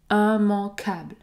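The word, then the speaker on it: immangeable: puisque c'est très rare si vous avez un mot qui débute par i M m vous allez toujours prononcer la voyelle nasale 1 si ce mot termine par able comme dans ce cas un mancable ou encore un mariable par exemple nous allons également prononcer la voyelle nasale en en puisque nous avons a n plus une consonne un mancable immancable immancable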